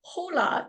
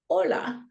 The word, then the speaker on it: hola: H sounds and then the hes are often silent like it's not hola it's hola yeah so once you